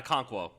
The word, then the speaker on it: Okonkwo: their leading receiver against the Eagles was a name that I cannot pronounce. Chigozuma. Is it Okonkwo? Yeah, Okonkwo.